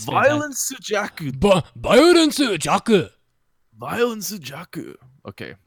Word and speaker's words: Violence Jack: this previous week is Violence Jack. No. Oh, You what? said it. You said it wrong. You say it with your best Japanese accent. It's like it's Violence Jaku.